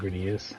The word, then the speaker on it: Gradius: And if it's pissing anyone off that I keep saying Gradius, great. Because as we learned, that's how it's pronounced from playing Gradius Gaiden.